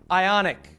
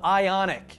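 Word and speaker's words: Ioniq: me jog your memory it's called the ionic and it's spelled i period O N IQ and I wish I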